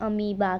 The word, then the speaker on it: अमीबा: किसकी है ये है अमीबा की मुझे पता है कि ये जो अमीबा की स्पेलिंग है इसके नेम से बिल्कुल भी मैच नहीं कर रही है लेकिन इसको अमीबा ही कहते हैं ओके सो लेट्स